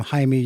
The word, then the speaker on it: Jaime: Jamie's ordering a a taxi or or a pizza because saying my name Haimey usually results in what? Heiny tiny everything else.